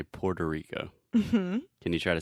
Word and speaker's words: Puerto Rico: Puerto Rico thank you so in English generally we say Puerto Rico can you try to